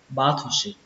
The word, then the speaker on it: battleship: Cách đọc thứ hai của từ này chúng ta sẽ đọc cái âm thổ này thành âm đồ. Cách này người Mỹ đọc battleship, battleship, battleship.